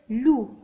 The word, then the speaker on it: loup: le loup s'écrit avec P à la fin. mais il ne se prononce pas. le loup.